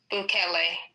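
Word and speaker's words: Bukele: President Boule in El Salvador inaugurated or not inaugurated um you know open is his name Boule the president huh Kelly okay sorry see I didn't know if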